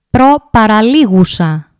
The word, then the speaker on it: προπαραλίγουσα: The third syllable from the end is called προπαραλίγουσα.